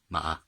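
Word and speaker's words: 吗: So that's where the meaning comes from, and the pronunciation comes from the horse character, ma.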